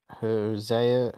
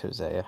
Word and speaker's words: Hosea: for me I put josea Hosea Matthews I think it's Hosea I can't remember how to pronounce yeah yeah yeah josea